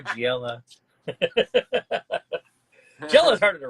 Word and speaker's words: Giella: Joe Giella, I've heard it pronounced also. Gila. First silver Riddler. And this one is 700. Nice. Joe Gila drinks the tequila. No, I think Joe Giella.